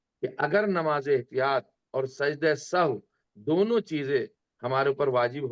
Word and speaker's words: سجدہ سہو: جو اصل پرناؤنس اس کا کیا جائے گا تلفظ سجدہ سہو.